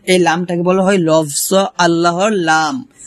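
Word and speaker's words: الله: লামটাকে বলা হয় লফজ আল্লাহর লাম। তো এই লামের ডাইনে যদি জবর কিংবা পেশ থাকে তাহলে সেই লামটাকে পুর অথবা মোটা করে পড়তে হয়। তাহলে এখানে আমরা আল্লাহ না বলে বলব আল্লাহ মোটা করে।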